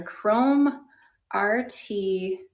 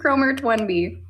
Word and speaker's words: Chrome RT1B: Estetica in the color Chrome RT1B. Which sometimes I like to call it Chromert because it's spelled Chromert. Chromert 1B, but really it's Chrome RT1B because the RT stands for root of a 1B.